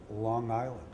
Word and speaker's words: Long Island: office equipment business on Long Island I'll say that again Long Island no hard G and we had this